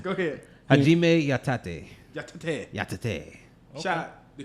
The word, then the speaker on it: Yatate: I did not finish pronouncing. Go ahead. Hajime Yatate.